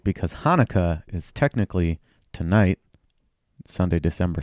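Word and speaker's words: Chanukah: Hanukkah. Not Hanukkah.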